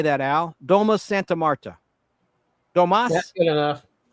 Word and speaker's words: Domus Santa Marta: Domus Santa Marta.